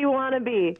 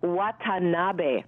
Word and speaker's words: Watanabe: It's actually... Getty Watanabe. Oh, I got it wrong. But that's okay. It's okay. Like, if you break it down into syllables, yeah, like, and just go wa, ta, na, be, it's four syllables.